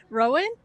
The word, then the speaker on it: Rowan: so far there are Rowan you know the guy his his name Rhymes rhymes with Bowen oh my gosh uh